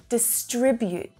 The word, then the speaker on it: distribute: Distribute. Say it with me, distribute. Can you notice where the stress is? It's in the middle, right? It's on the second syllable. Distribute. That first syllable is unstressed.